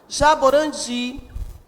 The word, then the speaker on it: jaborandi: Jaborandi, o di é a sílaba tônica desta palavra.